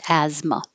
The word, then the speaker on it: asthma: an asthma flare-up and it looks like th like asthma but we don't say the th at all it's just asthma asthmatic the adjective the